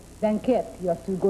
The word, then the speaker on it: Dunkerque: Dunkirk. Dunkerque, yes. Yeah. How do you say Dunkerque. Dunkerque.